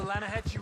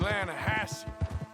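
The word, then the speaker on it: Lannahechee: the other day I rode down to the linahatchee river I caught some beautiful steelhead trout you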